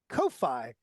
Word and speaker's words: Ko-fi: Ko-Fi. Is it Ko-Fi or is it coffee? I think it's pronounced coffee, but it's spelled Ko-Fi donation.